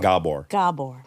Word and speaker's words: Gabor: saying his name right it's hard G gor Gabor gor is in the